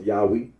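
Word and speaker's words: Yahweh: for the name yahwe the scholarly consensus in that the original pronunciation of tetr was yahwe Rino agrees that when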